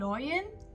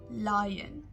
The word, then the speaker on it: lion: the king of the jungle lion lion not loyan lion my favorite animal is the lion now let's